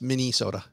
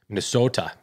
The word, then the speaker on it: Minnesota: I think it's pronounced Minnesota. Ah. Minnesota. Yes. It's a long O.